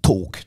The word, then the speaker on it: talk: Il y en a un qui revient à chaque fois qui dit « Les gars, le L de talk se prononce pas, on dit talk, talk ».